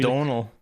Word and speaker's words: Domhnall: I always used to say like Domhnall because obviously It's that's just Donal. It's Donal. Okay. Donal Gleeson. Yeah. I always tried to go for like Doval, because like there's no N in it. It's an M, isn't it? Yeah, I think it is technically Doval, but that's the Irish pronunciation. Okay. But I think remember like, the English of it is Donal.